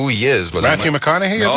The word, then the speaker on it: McConaughey: How do you pronounce his name? I know who he is, but... Matthew McConaughey, is it? McConaughey.